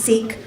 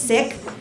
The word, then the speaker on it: Sikh: Some people say he's Sikh, but the way to pronounce it is Sikh.